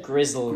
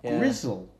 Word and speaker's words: gristle: we call gristle, but he said gristle, yeah, and not grizzle.